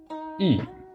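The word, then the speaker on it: 意: is now complete, and it's pronounced E. So it sort of represents the E sound in Deutschland.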